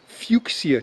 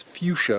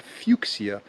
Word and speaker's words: fuchsia: we're walking by some fuxia trees i often mispronounce that as fuchsia because it looks like fuchsia but fuxia and those are interesting